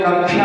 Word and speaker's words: कक्षा: इसी प्रकार से स्कूलों में कक्षा होती है, कक्षा, कई जगह लोग इसका सही उच्चारण नहीं कर पाते तो वहां पर कक्षा बोलते हैं, उसको कच्छ बोलते हैं, कच्छ, कच्छ नहीं कक्ष, का भी उसमें जुड़ा हुआ है।